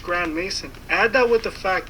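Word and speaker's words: Grandmaison: even his last name is suspicious as it's pronounced Grand Mason add that with the fact that his family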